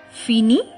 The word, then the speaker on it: finis: je tu el el all the form of phinear are similarly pronounced because the s and t in the end are not pronounced in french let's continue finish alphinis